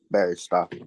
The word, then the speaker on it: Berestoff: I pronounce that right guy yeah baristo all right why don't